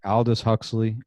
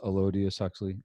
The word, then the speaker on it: Aldous Huxley: say his name right aldous huxley ello diaz i always thought it was elodia suxley i'll just huxley fellow